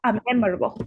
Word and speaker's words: memorable: Memorable, right? Okay. Memorable. Is stressed on the first day syllable.